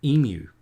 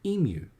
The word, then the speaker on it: emu: The second largest flightless bird in the world is called an emu. It's a U, not an oo.